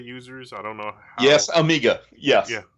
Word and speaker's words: Amiga: I don't know yes Amiga yes yeah so some of those guys pronounced it a Maga and I was like I don't think that's right but okay I'll be